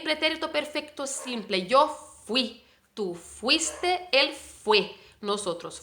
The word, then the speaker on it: fui: no fui y vale yo fui en español la parte fuerte es final yo fui y él fue si entonces no pronunciamos como en portugués decimos fui yo fui